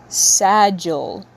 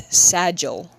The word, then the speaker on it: Sagil: who wants to know, his name is pronounced Sagil. Sagil? It's Italian, apparently. I re-looked it up just to make sure I'm saying it right, and it's Sagil.